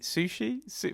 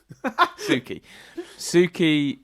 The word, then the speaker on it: Suki: Sushi? How do you say Sushi? Suki.